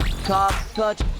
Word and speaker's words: Karpacz: Karpacz, Karpacz, Karpacz, Karpacz, Karpacz, Karpacz, Karpacz.